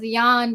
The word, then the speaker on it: Jan: Okay, I just went with Jan because in high school I had a music